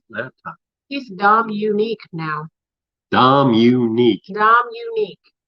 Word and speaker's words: Dominique: Dominique. How do you spell that? Can you put that in chat? I already did. D-O-M, unique. Dominique. Well, I ain't helping nobody. Don? You say Dominic, I say Dominique.